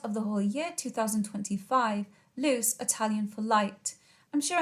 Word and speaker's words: Luce: Pronounced Luce, this name that refers to the Virgin Mary, Our Lady of Light.